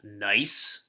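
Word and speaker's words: gneiss: piece of what's called nice that's how you pronounce that it's German word it's the G is silent it's pronounced nice not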